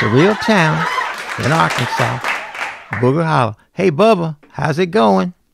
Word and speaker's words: Arkansas: a real town in Arkansas hey Bubba how's it going all right this is Bubba uh I I don't like the way you are messing with the name Arkansas is Arkansas not our Kansas yeah well you know